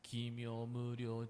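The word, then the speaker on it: 帰命無量: The point is when we pronounce O, it's not the O. There will be the U, Kimyo Muryo. If when you see the line over O, letter O, there is a U, like a mood. U will be followed. But again, not like pronouncing too clearly like Kimyo U Muryo U. Not in this way.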